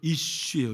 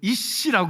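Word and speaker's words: איש: 우리 남편이 히브리어로 이쉬예요. 이쉬. 예? 우리 아내들 남편을 이씨라고 그러지 말고, 이씨 아니에요. 발음을 잘 하시기를 바랍니다.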